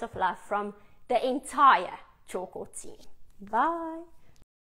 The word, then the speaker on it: Tjhoko: us an email to support choco paints and choco punch is spelled t-jh OKO hence p-a-i-e-t dot Co Dot